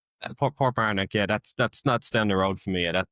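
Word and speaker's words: Portmarnock: Port Manuk. Is that pronounced right? Port Barnick.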